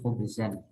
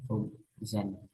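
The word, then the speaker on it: خبزًا: Khubzun itu roti, berarti di sini harusnya dibaca nasob, berarti khubzan ya, khubzan. Akal tuh khubzan, aku memakan roti ya.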